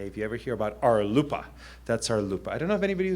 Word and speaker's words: RLUIPA: and Institutionalized Persons Act, which is pronounced RLUIPA, spelled R-L-U-I-P-A. If you ever hear about RLUIPA, that's RLUIPA.